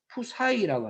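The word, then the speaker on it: ψ: 푸사이라고 합니다. PSI인데 이걸 읽기를 푸사이라고 읽는답니다. 푸사이.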